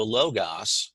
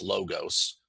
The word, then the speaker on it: logos: Well, the Logos, or sometimes it's also referred to as logos, can be pronounced logos. So sometimes you'll hear me interchange those logos.